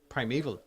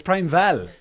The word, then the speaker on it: Primeval: Netflix American Prime Val Prime eval no it's Prime Val is it yeah because V at the end I thought it was Prime Evil no not spell that